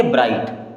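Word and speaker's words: bright: आई जी एच टी मैंने क्या कहा कि किसी भी वर्ड में जी एच अगर बीच में आ रहा है वो हमेशा के लिए साइलेंट रहेगा उसे पढ़ना ही नहीं है कभी तो इसे हम क्या पढ़ेंगे ब्राइट क्या पढ़ेंगे ब्राइट बच्चों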